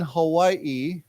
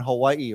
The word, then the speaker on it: Hawaii: mother's grew up in Hawaii right so if you live in Hawaii the proper way to say Hawaii is you pronounce the second I separately right many of my